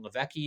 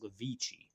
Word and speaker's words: Levici: In the meantime, Binghamton put Sam Levecki in. I'm sorry, I guess it's pronounced Levici.